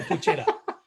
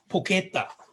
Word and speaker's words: porchetta: And I say porchetta. Looks amazing, porchetta. You say porchetta. So it's spelled porchetta, but it's pronounced porchetta. Apparently.